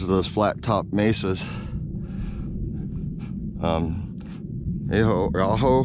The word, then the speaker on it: Ajo: Aho, I think it's Aho, it's pronounced.